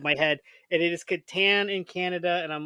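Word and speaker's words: Catan: and I'm gonna say it's Katan my that's my pronunciation K I'm Canadian you can blame it on me being Canadian you know it is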